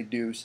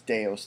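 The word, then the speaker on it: Deus: buy new for dos X that's how you pronounce it Folks by the way don't say Deuce it's deos thank you and there's also these free ones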